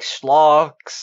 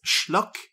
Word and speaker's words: schlock: Like schlogs and Just Actually, from Fur Affinity invading our things. actually, it is pronounced schlock.